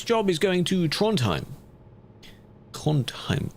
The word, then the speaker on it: Trondheim: Trondheim. Trondheim. Apparently, you don't really pronounce the d in that sound.